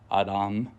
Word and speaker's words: Adam: of this scripture so the word Adam or as it's pronounced in the Hebrew Adam is only used as